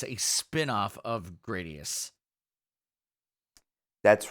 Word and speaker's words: Gradius: called compromise that's called the most pretentious way to say the word yeah gradius how about that we finally learned this is according to how it's spelled in Japanese so graus and uh I've lost